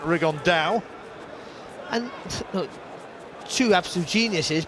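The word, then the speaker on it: Rigondeaux: and he's as he's correctly pronounced with the uh spanish accent rig on dao and look two absolute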